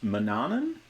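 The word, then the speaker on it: Manannan: it seems like the most common agreed on pronunciation is Manan so I I had to make a note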